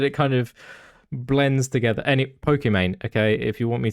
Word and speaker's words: Pokimane: And that is the correct pronunciation. Do you mean Pokimane?